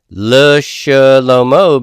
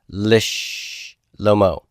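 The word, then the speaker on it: לשלמה: So how am I going to pronounce this? Le Shlomo becomes Lish Lomo.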